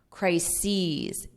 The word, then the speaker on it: crises: And notice the pronunciation, because we have crisis, crises, e. So you have that long e on the plural.